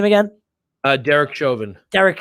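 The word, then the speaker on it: Chauvin: a a guilty verdict for how do you pronounce his name again uh derek joven derek shovin all right um and and a lot of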